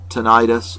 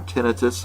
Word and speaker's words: tinnitus: months have been diagnosed with tinnitus or tinnitus however you want to